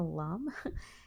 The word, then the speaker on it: lame: Here you see I have these silicone slings and also a lame, or it's spelled lame, but it's a lame.